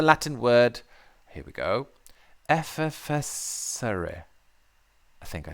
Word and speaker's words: effervescere: It stems from the Latin word, here we go, effervescere.